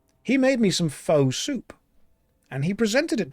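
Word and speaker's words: phở: And he made me some I think you pronounce it fur, but most people say foe. He made me some faux soup.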